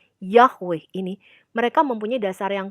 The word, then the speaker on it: Yahweh: sarjana kita itu mempunyai dasar untuk pelafalan Yahweh tapi bukan yeh yeh atau Yeh atau Yah gitu ya bukan nah saya melihat